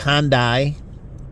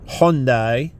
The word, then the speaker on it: Hyundai: a foreign name like they found out with Hyundai, which is not pronounced that way. It's Hyundai.